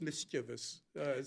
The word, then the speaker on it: mischievous: Well, you could say mischievous, too, right? Yeah, I looked it up. I looked it up last night. It's mischievous cuz I So, is that the English version?